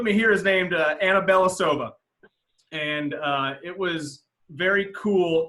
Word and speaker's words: Belosuva: And I actually think, if I remember correctly, everyone says Belosuva, but I think she says the proper way to say it is Belosuva.